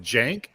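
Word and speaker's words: Cenk: __ ] right yeah it's pronounced Jank but I don't know why because it's c-e-k uh c-e-n-k yeah but it's a Turkish name so I guess it's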